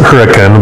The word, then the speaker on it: Hurricane: I moved to a little city called Hurricane, which I pronounce it Hurricane, but it's spelled hurricane.